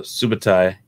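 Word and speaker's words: Subotai: a stiffened snake at her uh but uh subatai did i say it right this time yeah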